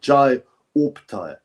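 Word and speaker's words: Opetaia: I've got to pronounce it. Jai Opataya.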